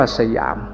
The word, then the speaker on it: สยาม: ว่า ประเทศ สยาม พ ภาษา สันสกฤต ว่า สยำ บาลี ว่า สยัง พอ ออก เสียง เป็น ไทย ว่า สยาม เรา จะ เห็น จารึก